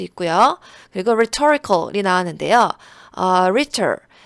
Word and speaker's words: rhetor: rhetor 여기서 H가 이제 묵음입니다. 발음이 되지 않고요.